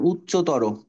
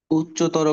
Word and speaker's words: উচ্চতর: ছিল এইটা ছিল এইটা আচ্ছা কোন শব্দের শেষে যদি তর আর তম দেখো মানে তর তম তাহলে ওটা ওকার পড়বা শেষে হ্যাঁ যেমন উচ্চতর উচ্চতর গণিত আছে না উচ্চতর